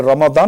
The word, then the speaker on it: রমাদান: দিক থেকে একই কথা যেমন আপনি রমাদান শব্দটি উচ্চারণ করেছেন কোরআনের পরিভাষা আমরা এটাকে রমজান বলি রমজান তাহলে কোরআন তো রমাদান মানে হরুফ বা মাখরাজ অনুযায়ী রমাদান কিন্তু আমরা রমজান বলছি আমরা এটাকে অশুদ্ধ বলছি না তো রোজা বলছি তাই নামাজ